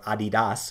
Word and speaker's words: Adidas: in ADDYY, which is the ticker symbol for Adidas, or Adidas, for those of you that like a distinct pronunciation there.